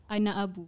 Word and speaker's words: Anaabu: Anaabu. Anaabu. Okay. Oh, you have to pronounce both the A's.